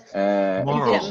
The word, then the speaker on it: MURAL: Moral. Much better. Moral.